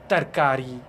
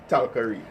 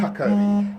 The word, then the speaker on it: tarkari: then you have chokha, tarkari. And the pronunciation, that I'm just drawing that on the pronunciation, Right. because you'll say, I will say like talkari, Right. but it's takari.